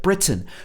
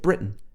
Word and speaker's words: Britain: tiny little empire here she was saying the word britain but she didn't say britain she said britain britain so this is actually a very common way to say this word not everybody will